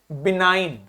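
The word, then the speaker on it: benign: जब भी आई के ऊपर कैप लगती है उसका प्रोनाउंसिएशन आई हो जाता है। तो इसका मतलब हो गया, क्या बोलेंगे इसको? बिनाइन।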